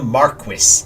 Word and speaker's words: Marquess: meant to go here take me to see the Marquess that's how they pronounce marquee in this game for some reason I'm